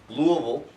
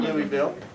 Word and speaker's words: Louisville: that where's balding Louisville Louisville is how you say that not Louisville that's wrong incorrect uh her work has